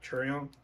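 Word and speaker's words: Chaeryeong: this one comes with two photos of uh cherry on that's how you say her name treyong and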